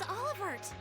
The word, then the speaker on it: Olivert: Prince Olivert! The T is silent, dumbass.